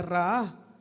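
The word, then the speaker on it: ראה: La palabra vi en el hebreo se pronuncia raá.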